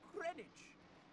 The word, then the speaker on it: Greenwich: Where's Where's my W? It's It's It's a what? You don't pronounce out at Greenwich.